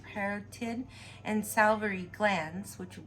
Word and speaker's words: parotid: taking tubes para parrot i thought it was peritoid but it's parotid and salivary glands which